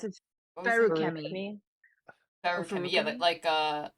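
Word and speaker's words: Feruchemy: Feruchemi. Feruchemi. Yeah, Feruchemi? like iron is ferrous. So it's Ferris, yeah, Feruchemi. right. Yeah. Feruchemi. I pronounce it with like the same intonations as like alchemy.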